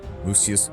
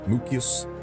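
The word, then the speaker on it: Mucius: Yes, Latio, Lucriccius, Manenius, Mousius, Mukio. Sorry, there is no soft C in Latin.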